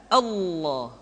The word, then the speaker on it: Allah: Lafaz Allah dimanapun kapanpun, maka lam yang terdapat pada lafaz jalalah tersebut mesti ditebalkan. Allah, Rasulullah.